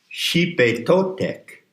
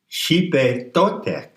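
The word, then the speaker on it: Xipe Totec: Now let's go to the next name, Xipe Totek. It's spelled X-I-P-E because the X in transliteration of the Nahuatl is a SH sound. Xipe Totek.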